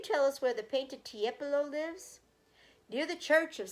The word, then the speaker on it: Tiepolo: He turned to the right page and read, "Tipolo, say Tiepolo."